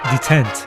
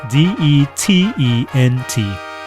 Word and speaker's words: detent: Detent. D-E-T-E-N-T. Detent. Pronounced detent or detent.